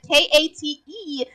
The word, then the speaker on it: Kate: The E is just to show that you're pronouncing it differently. Because you don't say the E sound in Kate, right? So, but you see the E and you know, as an native English speaker, you know that K-A-T-E is pronounced with an A sound.